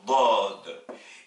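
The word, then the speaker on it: ضاد: Deuxième paire de lettres, vous avez la lettre del, le D, équivalent du D français, qui s'oppose avec la lettre dad.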